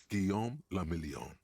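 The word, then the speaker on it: Guillaume Le Million: Guillaume la Million. 70s France? If it doesn't rhyme, you're not pronouncing it right.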